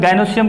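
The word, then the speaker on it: gynoecium: यहाँ पे ध्यान देने का बात है, इसका प्रोनाउंसिएशन गाइनोसियम करते हैं, यहाँ पे ई का उच्चारण नहीं करते हैं, लिखते गाइनोइशियम है, बट प्रोनाउंसिएशन गाइनोसियम करते हैं।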